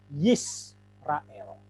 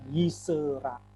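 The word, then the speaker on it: ישראל: adalah vokal pendek Hai Jadi kalau sewa terletak setelah vokal pendek tidak diucapkan yes rael Hai bukan yisrael Hai nah ini kaidah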